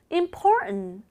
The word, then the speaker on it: important: Important. 여기에서 지금 important가 아니라 important 발음 됐는데 이건 T하고 N 사이에 모음이 있어서 발음 난 거예요.